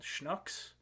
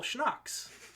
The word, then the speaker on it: Schnucks: They have a grocery store called Schnucks because it's a family name, but it's spelled like shucks with an N in it. So when I first got out there, I was like, oh, cool, Schnucks.